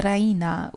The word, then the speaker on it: Raina: She pronounces it the Raina with the stress on the E.